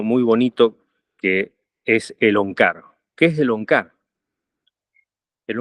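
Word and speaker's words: ੴ: Se pronuncia Onkar y representa todo el poder del universo controlado por Dios.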